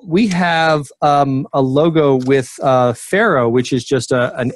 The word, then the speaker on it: Farrow: But F and arrow, because that's the way it's spelt, Pharaoh, F and arrow.